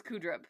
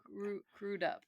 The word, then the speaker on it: Crudup: I full on thought it was Crudup. It's Crudup.